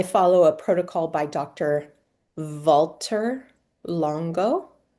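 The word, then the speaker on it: Valter: Walter Longo. Walter, like the word Walter, but spelled with a V instead of a W at the beginning.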